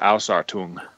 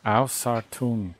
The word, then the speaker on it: Ausartung: I mean, I'm not a perfect German speaker by any means, but I always thought it was Ausartung. Ausartung. That sounds so much better than what I say.